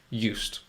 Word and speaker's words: used: spelling but it's a different word with a z zed sound um but i think you know that already i just wanted to just review that but what we're talking about here is used used i used to we used to are you used to that yet i'm getting i'm getting used to it used you so it's got a t sound there used so that's